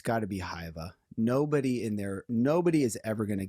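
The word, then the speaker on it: Hyvä: It's Hyva.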